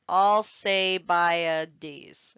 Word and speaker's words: Alcibiades: And because he died from the plague, his leadership was taken over by Alcibiades, I believe is how you pronounce this. Alcibiades.